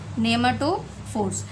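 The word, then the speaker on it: pneumatophores: Such roots are called नेमाटोफोर्स, ठीक है, उन रूट्स को हमने क्या नाम दिया है, देखिएगा पी इसमें साइलेंट है, नेमाटोफोर्स।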